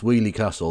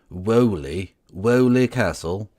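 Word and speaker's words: Weoley Castle: If they knew it was pronounced Wheelie Castle, there's absolutely no way they're not. No one outside the Midlands knows how that's pronounced. Wheelie Castle.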